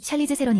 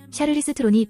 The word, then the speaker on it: Charlize Theron: 외래어 표기법 용례에 따르면 샬리즈 세론 있데이는 영어식 발음이다 샤리스 트론이 본인의 모국어인 아프리칸스어 발음에 더 가까운 표기다 남아프리카 공화국의 트란스발 주에서